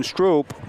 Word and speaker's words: Stroop: Grafton Stroop.